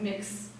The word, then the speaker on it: Mx: they're going to add MX which is usually pronounced like mix so that so that